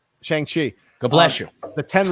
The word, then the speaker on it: Shang-Chi: Shang-Chi. Shang-Chi.